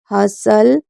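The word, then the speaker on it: hustle: एपोसल, ब्रीसल, बसल, कैसल, fashion, हसल, listen. इसको एक बार खुद से भी रीड करिए। उसके बाद के कब साइलेंट होता है?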